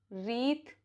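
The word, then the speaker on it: wreath: Letter W is not pronounced if it comes before R at the beginning of the word. जैसे wrist, ring, रिस्टलेट, road, रीथ, wrist वॉच, road, wrinkle, wrist band.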